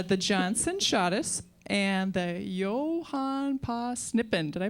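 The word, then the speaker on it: Johan på Snippen: it's called uh the Johnson shis and the Yohan P snippen did I pronounce that right that's right all right let's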